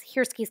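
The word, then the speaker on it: Hirschi: in sociological learning is here skis control theory and yeah apparently it's pronounced here ski I know it doesn't totally look like that so here's what it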